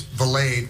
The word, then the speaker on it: Vallade: Her last name rhymes with, it's Vallade, which rhymes with the Everglade.